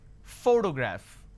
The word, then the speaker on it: photograph: Photograph. Now pay attention. When I pronounce this particular word, photograph, the correct pronunciation is photograph, which means I am stressing on this particular syllable, which is the first syllable.